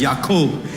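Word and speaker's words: יעקב: that's all he did in the Hebrew the name Jacob is similar to what how we pronounce it in Tamil which is yakob and yakob is a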